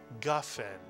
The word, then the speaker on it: Gafen: First syllable with the letter Gimel, the galloping Gimel. Ga is correct, Mitsuyan. And the second syllable with the Fe. Fen is right, Mitsuyan. Put the word together and you get Gafen.